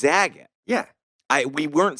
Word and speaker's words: Zagat: No, Zagat. Like Bob Saget. Zagat.